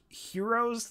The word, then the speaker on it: gyro: my question is are heroes the same like i guess for somebody who doesn't know what a hero is like a gyro that's how it's spelled like gyro but it's it's called a gyro are they are they